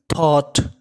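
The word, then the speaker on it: thought: आपको क्या दिख जाए जीएच और उसके बाद टी हो तो जो हमारा जीएच होता है वो होता हमारा साइलेंट तो क्या पढ़ेंगे इसे थॉट थॉट an idea N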